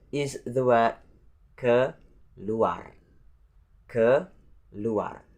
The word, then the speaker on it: keluar: And the next number 9 is the word keluar. Keluar. So the first syllable is the word ke, and the next syllable is luar. Keluar. So that's not luar, but luar. Luar.